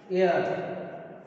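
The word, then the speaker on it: heir: For example, an air. Okay, and air. So here is the H. H letter is silent here, and pronunciation start with the E.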